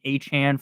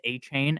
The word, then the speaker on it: Achane: I really it doesn't really matter because when you play Madden, they pronounce his name as Achane, and then the other announcers pronounce him as Achan. But I think it's Achan, so that's why I'm going to keep saying that.